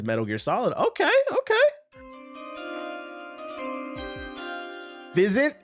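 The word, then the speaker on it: Physint: Fizzant. It's It's pronounced fizzant.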